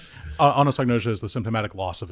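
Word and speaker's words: anosognosia: word I didn't quite uh I hadn't seen Anosnosia. Yeah, thank you for pronouncing it. Yeah, anosagnosia is the symptomatic loss of insight.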